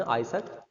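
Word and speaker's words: Isaac: आइजक, हम उसको इसाक Newton बोलते हैं वैसे, तो हम उसको सही प्रोनाउंसिएशन आइजक न्यूटन, है ना।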